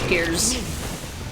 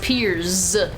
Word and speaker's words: Piers: Pierce. I keep calling him Pierce. His name is not Pierce. It is Pierce with a Z. Well, with an S, but it's pronounced like a Z.